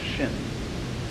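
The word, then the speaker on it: 心: my mind in Chinese the mind is this word pronounced shin and shin is here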